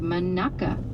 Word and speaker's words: Monaca: It's pronounced manaka. Manaka.